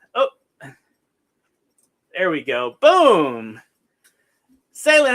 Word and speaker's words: Sailynn: Sailynn, like sailing on the ocean.